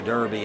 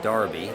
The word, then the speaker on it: Derby: about however since uh johnny warner mispronounced the derby and said darby as he frequently does